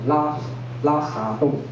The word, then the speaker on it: 拉薩崠: ，他们叫拉沙洞，哇，那个沙很难发音，沙，然后加一点点喉音沙，没关系